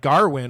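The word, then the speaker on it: Gawain: I I was surprised to see they say they almost say like Garwin almost a little bit, right?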